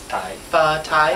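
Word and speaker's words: phở tái: pho tai you're cooking how do you pronounce it correctly tai tai as opposed to pot tied well it's Vietnamese it's not high any bar is Vietnamese soup and tie means the beef is rare oh that's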